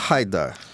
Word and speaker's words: Haidar: Então, parece que a pronúncia é Haidar, mais próxima, né, do que da minha origem libanesa. Mas eu falo Aidar desde que eu tenho idade pra falar, então eu costumo falar Aidar mesmo.